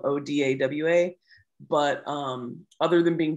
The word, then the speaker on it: Odawa: was closer to our dialect so that's why it's spelled odawa but um other than being different bands we